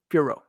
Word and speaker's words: Fiorot: So when you leave this video, I don't want to hear a T at the end of her name.